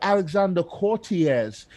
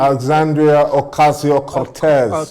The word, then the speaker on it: Alexandria Ocasio-Cortez: And I remember Alexander Cortez in New York, the senator for New Alexandria Ocasio-Cortez.